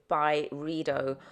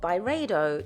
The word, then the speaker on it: Byredo: Street to go to Byredo, or Byredo, depending on where you're from and how you want to pronounce it.